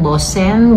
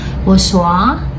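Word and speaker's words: Boursin: So ang kung babasahin natin bosen, Borsen. At ang tawag pala nito sa ang right pronunciation pala nito is Bosoa.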